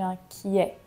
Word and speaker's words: inquiète: inquiet je suis inquiète attention au masculin on va dire je suis inquiet et au féminin je suis inquiette prononcer le t avoir la boule au